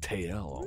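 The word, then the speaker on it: Tael: spelled t-a-t-l yes and tail is spelt different too t-a-e-l i think yeah it's like tail almost very high tutorial tutorial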